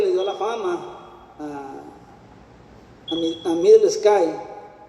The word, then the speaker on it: Midlesky: Pues según la literatura, obviamente la pronunciación más aproximada que le podrían haber dado en Europa sería Johnny Middle Sky, o sea, pero eso es más en inglés. Ellos le dirían Middle Sky en inglés y en ruso sería Middle Sky. Énfasis en ambas sí por el acento ruso, obviamente.